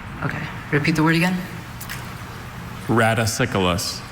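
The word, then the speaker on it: radicicolous: Are there any alternate pronunciations? There's just the one. Raticyus. Raticyus. Okay. Repeat the word again. Raticyculus. Raticyculus.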